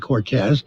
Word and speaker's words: Cortese: we have a dan cortese when his name is spelled cortese but pronounces it cortez he's 54 used to